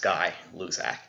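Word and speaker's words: Gay-Lussac: I know it's spelled G-A-Y, but it's pronounced Guy-Luzak.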